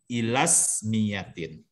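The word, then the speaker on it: إلى اسميةٍ: Kalau dibacanya nyambung ya hamzahnya ismiyah itu hamzah fasal. Jadi bacanya ilasmiyatin. Ila ismiyatin. Ilasmiyatin wa fi'liyatin.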